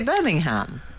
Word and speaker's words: Birmingham: just a pronunciation difficulty you'd say um not am okay but it's like I say Birmingham that's all right going